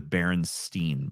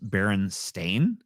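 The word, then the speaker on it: Berenstain: the there were The Berenstein Bears Scotty other than Steam and somehow some way I wound up in this universe where it's pronounced Baron stain and it's spelled like stain no I know same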